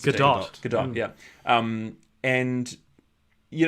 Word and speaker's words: Gadot: gal gadot Goodell gadot I think you actually do pronounced good dog good dog yeah and